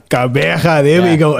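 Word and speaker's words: Gqeberha: And then I must pronounce it the right PE, but I must pronounce it Kabeja.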